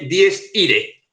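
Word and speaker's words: Dies Irae: Vale, se escribe 10 Irae, se dice 10 Ire.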